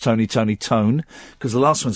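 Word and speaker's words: Toné: It's pronounced Tony Tony. Tone.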